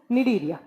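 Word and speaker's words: Cnidaria: निडीरिया, तीन नंबर पे आपको लिखना है निडीरिया। देखिए, सी से लिखा जाएगा बट इसको प्रोनाउंस किया जाता है एन से।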